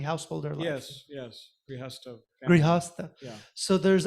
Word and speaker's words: grihastha: what is the purpose of sex and family and so forth, is it grihastha? How do you say family, household, or life? Yes. Yes. Grihastha.